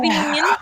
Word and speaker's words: Veen: yeah, Zach Veen.